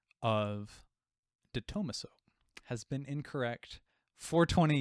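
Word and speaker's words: De Tomaso: I'm going to assume the correct way because I looked this up and I heard other people pronouncing it this way. Detomaso.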